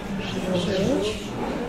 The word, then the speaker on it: желчь: Желчь. Раньше правильный вариант был только желчь, запоминали по аналогии желтой. Сейчас равноценные варианты желчь и желчь. Так и так будет правильно.